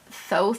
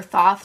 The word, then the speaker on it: Thoth: And there is almost some like Thoth or Thoth, depending on how you want to pronounce it, Thoth Tarot influences for sure, but it's really just its own deck.